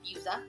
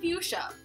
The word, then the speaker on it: fuchsia: And the next one is LA Girl Fuse, not Fusa, it is Fuzzy Fuchsia.